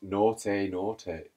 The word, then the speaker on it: Nortei Nortei: Pronounced Nortei Nortei.